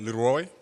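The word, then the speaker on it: Leroi: So, um so the clothing brand is called Leroy. Um that's the pronunciation for it.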